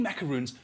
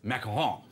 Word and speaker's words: macaron: must also mention that when i said macaroon in front of her she's also a french teacher she said say it correctly it's makaha right did i say recti